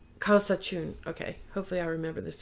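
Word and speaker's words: Kawsachun: Can you pronounce it for me again? Yeah. Kausachun. Kausachun.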